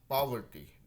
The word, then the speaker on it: poverty: Poverty. पावर्टी, Poverty. Poverty. देखिए Poverty. पावर्टी। Poverty. तो थोड़ा आ वाला साउंड आ रहा है, लेकिन हम लोग यहाँ पे अभी के लिए पॉवर्टी चलेगा, एक्चुअली पॉवर्टी चलेगा।